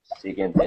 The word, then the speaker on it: siguiente: Aquí, por ejemplo, en la palabra siguiente, la U, cuando encontramos una U, siempre que encontremos una U detrás de una G, si la U no lleva dos puntitos encima, la U no la debemos pronunciar.